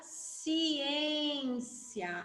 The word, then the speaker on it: ciência: depois tem a palavra ciência Aonde vocês colocaram assento nessa palavra e no ar e se não tivesse o acento ficaria eu falo ciência não eu falo ciência